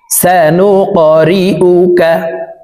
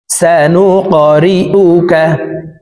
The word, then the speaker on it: سنقرئك: গুসাআন আহওয়া فجعله غثاء أحوى سنقرئك কফ কলকলার হরফ উপরের দিকে ধাবিত করে ধাক্কা দিয়ে উচ্চারণ করব।